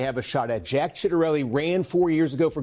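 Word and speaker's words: Ciattarelli: It really is pronounced chitterelli cuz that's the way Cornaki said it.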